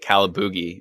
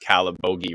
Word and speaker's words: Calabogie: And I'm like, I think I called it Calaboogie in the live stream. Of course I pronounced Calabogie wrong.